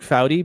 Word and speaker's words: Foudy: I mean, is it more shocking that it's Jean-Luc Foudy being not qualified or that I pronounced it correctly?